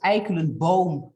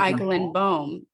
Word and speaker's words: Eikelenboom: Well, it is Eikelenboom, like Eikelenboom. and Schieveld.